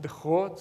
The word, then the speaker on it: DeGroot: in the netherlands and i learned that it should be pronounced the hot so i'll try to